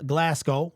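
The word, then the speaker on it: Glasgow: Taylor Decker Glam uh Graham glasow is how you pronounce it I guess Frank ragn Now Kevin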